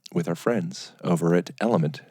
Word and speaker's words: LMNT: So, teamed up with our friends over at Element. It's spelled LMNT because they've changed my experience with drinking water.